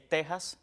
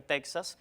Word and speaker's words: Texas: Esto se aplicaría también en otros topónimos que cumplen con esta característica, y es Texas, que a veces dicen impropiamente Texas, y también con Oaxaca, que a veces dicen Oaxaca.